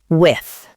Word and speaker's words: with: Notice the soft th sound, not wit, with.